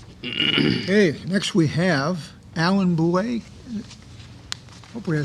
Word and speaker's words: Boulay: Okay, next we have Alan Boulay. Hopefully I said it right. You got it right. I did. That's impressive. All right. Good evening. Evening. My name's Alan Boulay.